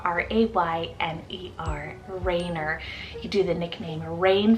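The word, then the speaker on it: Rayner: er ending name on the boy side is Raynor spell r-a-y-n-e-r Raynor you do the nickname rain for this one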